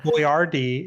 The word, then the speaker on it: Boyardee: Chef Boyardee right yeah Boyardee is how you say it but it wasn't phonetic in in like Western English so he re he changed the spelling of his name so people would get it right that's why it's an